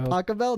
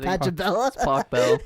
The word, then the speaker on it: Pachelbel: i think it's john john pacquiao is that how you say it pachelbel not patchabella tacobell yeah around my whole